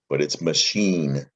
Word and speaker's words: machine: french word machine and the ch makes an sh sound doesn't it machine and